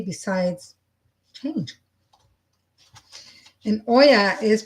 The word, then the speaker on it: Oya: And Oya is pronounced Oya.